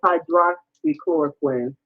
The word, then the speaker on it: hydroxychloroquine: jump in and speak it's um actually it's pronounced hydroxychloroquine not to be that particular i'm a writer